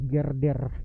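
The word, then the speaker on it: girder: Na-sort ko na sa Google anong pagkabigkas nito. Gerder.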